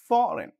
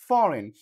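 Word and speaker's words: foreign: সো এখানেও কি এখানে জির উচ্চারিত হচ্ছে না ফরেন ফরেন এফ ও আর এ আই জি এন এরপরে জি এন এটি নেট খেয়াল করুন।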